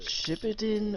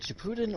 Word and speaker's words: Shippuden: When the emphasis is supposed to be on the Puden. Shippuden. Alright, whatever. Okay, well, is it Shippuden or original Naruto?